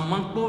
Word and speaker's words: Manko: Dans Manko, nous avons deux syllabes.